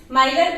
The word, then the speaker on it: Miller: वाले हैं that is माइलर indices. कुछ लोग इसको मिलर इंडाइसिस भी बोलते हैं, तो आप कुछ भी प्रोनाउंस कर सकते हैं, मैं इसको माइलर इंडाइसिस बोलती हूँ।